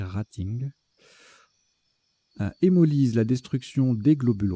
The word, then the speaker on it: rating: Moi, je prononce rating à l'anglaise, mais là, apparemment, il faut prononcer rating.